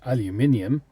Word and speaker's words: aluminium: It has an I in it, by the way. It's aluminium.